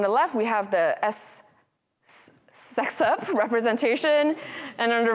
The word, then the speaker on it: sexp: So is it sexup or sup? I don't know. Let's go with sexup, which refers to S expression, and hence my confusion, right? Like sup, S expression, right?